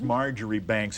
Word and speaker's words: Marchbanks: and it's Marjorie Banks. If you were to see it written, Yes. it doesn't pronounce right.